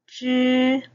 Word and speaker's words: ㄗ: like Zhuyin ㄓ 但ㄗ的發音方式是將嘴張到兩側 But the way to pronounce ㄗ is to open the mouth to the sides 不要捲舌將舌尖靠近上牙 do not roll the tongue bring the tip of the tongue close to the upper teeth 幾乎從不振動聲帶 and almost never vibrate the vocal cords ㄗ z ㄗ z